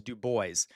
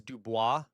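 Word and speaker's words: Du Bois: So, literally the French is Dubois. All right. Uh, and I have I've read all of Dubois's stuff. Okay. Uh, and he was okay with being called Dubois because that's the original French way of pronouncing it. uh because I've read his stuff and uh but most people would say Dubo because it's easier than Dubois uh or Dubois because that's the French.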